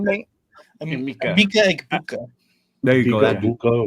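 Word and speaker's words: Emeka Egbuka: Mika Egbuka. There you go. That Buka, whatever. Yeah, something like that. Something like drop that. A bunch of vowels on the floor. Mika Egbuka.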